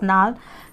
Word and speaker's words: gnarled: G is silent in this, not gnarled. We are going to read it's gnarled.